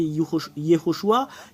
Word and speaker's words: Yehoshua: Et tous ceux qui prient Yehoshua, prient Josué. La vérité, c'est que c'est vous-même qui copiez les choses fausses. Bah, c'est à vous de voir. Mais la vraie prononciation du nom de Josué, c'est Yehoshua.